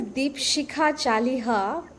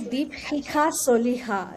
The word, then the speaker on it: Dipshikha Chaliha: So my name is Deep Shikha Chaliha by the anglicized method of pronunciation but in asamese sh is her the soft s and ch is sir so it's actually deep hika soiha it sounds like another